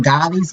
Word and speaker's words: Goli: I want to try those how you say it, gollies, GOLI, the Goli.